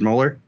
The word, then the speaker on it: Moeller: on screen uh we're joined today by richard mohler that's pronounced correctly right richard mohler yep you got it perfect um today's episode